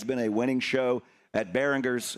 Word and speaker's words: Barringers: a winning show at Behingers. Am I saying that right? Right. Right. Behers. Behingers. Yeah. You know, that's called a a soft G. A hard G is Behingers.